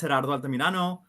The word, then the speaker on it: Gerardo Altamirano: My name is Gerardo Altamirano. If you can't roll your R's and call me Gerry.